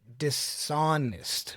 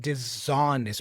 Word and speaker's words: dishonest: So you have to say dishonest, not dishonest with a z, okay? You have to say disobedient with a with an s sound, not disobedient.